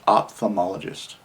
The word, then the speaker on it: ophthalmologist: how it's spelt ophthalmologist ophthalmologist and it's actually off o f f off thermologist off so the p is actually an f ophthalmologist and that's someone